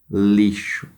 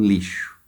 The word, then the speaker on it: lixo: Dessas aqui, a única que é diferente, que a sílaba tônica é diferente, vai ser o lixo. Então, vocês copiem lixo aqui embaixo e classifica ela. Ela é uma paroxítona.